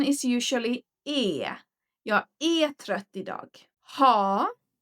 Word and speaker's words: är: It's spelled, but the pronunciation is usually e.